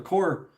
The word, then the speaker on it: corps: The core, by the way, you're spelling it wrong, but that's okay. You spell it like corpse, C-O-R-P-S.